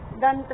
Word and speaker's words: दंत: घंटा में अणय की ध्वनि आ रही है, दंत में न की ध्वनि आ रही है, पंप में म की ध्वनि आ रही है।